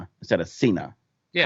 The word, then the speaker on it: Cena: cena vehicle called peacemaker cena it rhymes with peace maker it does no matter